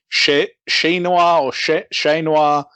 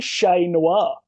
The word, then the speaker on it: Ché Noir: it i've been like is it she noir i nev i don't particularly want to get it wrong but i guess i guess it's got to be shay noir yeah it's got to